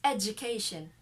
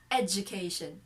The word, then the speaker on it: education: but according to dictionaries this d sound of the word education is not pronounced d it's a j sound education education that's the